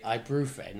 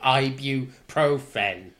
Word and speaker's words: ibuprofen: comes to mispronunciation annoyances there's nothing worse than people who say and say I proven or I bureau friend instead of ibuprofen I'm and ibuprofen